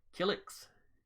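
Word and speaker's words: Killiks: to pronounce this right kilix k-i-l-l-i-k-s helix it's the same pronunciation as the person from soul calibur uh intelligent insectoid species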